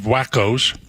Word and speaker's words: Waco: But he's crawling around on a bunch of wackos.